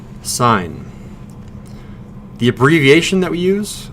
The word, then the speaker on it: sin: You always pronounce this sine, like a stop sign.